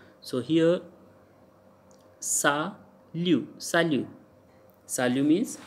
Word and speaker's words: salut: So here sa liu, sa liu, sa liu means hi. So sa liu, T is silent, we can't say salute, so it's sa liu.